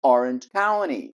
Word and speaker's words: Orange County: som de ó Sant Claus e a última Orange county Orange county ou Condado perfeito Então você viu a importância de saber como pronunciar e saber sobre mais fonética aqui dos